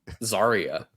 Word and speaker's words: Zarya: Zarya. It's like Daria, but with a Z.